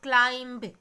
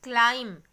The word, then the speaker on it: climb: It's not climb, it's climb. So, we are not pronouncing the letter B.